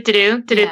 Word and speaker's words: Ddu-Du Ddu-Du: No, I think Ddu-Du Ddu-Du. Ddu-Du Ddu-Du is right.